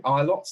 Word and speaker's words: Ilott: But Callum Ilott, is it? I think in F2. Ilott, that's how you pronounce it.